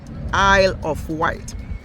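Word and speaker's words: Isle of Wight: says I love white I love white because that s is silent Isle of white so there's so many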